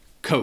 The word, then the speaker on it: Coke: Nhưng hãy chắc chắn rằng bạn đang nói nó với âm / o / dài.